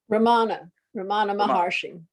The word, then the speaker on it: Ramana Maharshi: Ramana Maharshi.